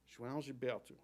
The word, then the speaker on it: João Gilberto: To even say his name required my mouth to not trust my eyes and find a new dance. The opening consonant J sounds like Jaja Gabor, or the OAO form a diphthong, kind of like ow with a swallowed ending.